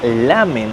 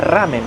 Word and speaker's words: ramen: Nosotros le decimos sopa ramen a la sopa que les mostré en la imagen, pero acá los brasileros la R no lo pueden pronunciar bien.